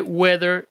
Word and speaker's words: whether: actual pero lo que me sorprende ahorita es que la pronunciación es exactamente la misma de the weather de clima así que por favor